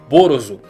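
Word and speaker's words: Ballos: Provavelmente o jogo se chama Cave Story, onde o maior antagonista desse jogo se chama Balos, que em japonês se pronuncia Borozo.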